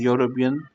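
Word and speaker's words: European: इज अ युरोपियन citizen इथं इ जरी असला तरी त्याचा साऊंड हा अ येणार कारण युरोपियन जस युनिव्ह्सिटी आपण उच्चार वाय प्रमाणे होत ना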